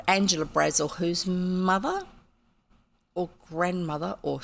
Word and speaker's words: Brazil: specifically from South America so they pronounced it Brazil like Dazzle Razzle Dazzle you know with the double z in it but they pronounced it Brazil and everything you read about this lady that's one of the first points they make is her name is Angela Brazil not Brazil anyway so um we